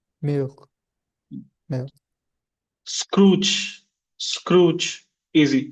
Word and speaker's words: Scrooge: Scrooge. Scrooge. Easy. Scrooge, only one syllable.